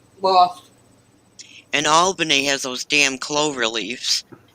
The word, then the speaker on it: Albany: your ass quick because it is pronounced albany yeah okay cause trust